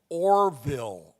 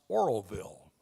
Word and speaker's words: Oroville: the announcer on the video kept calling it Orville o r v i l l e California so Jim was recruited to take the script to khsl TV and re-record it knowing how to pronounce Oroville hence he was given